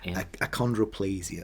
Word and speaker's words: achondroplasia: I think it is the how'd you pronounce it? Achondroplasia.